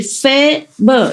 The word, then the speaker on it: Faber: It's written F-A, like in Vietnamese A. It's like cafe in French, pronounce it like A in French. And B and is pronounced more or less like like in urgent. Nah? So I say Faber.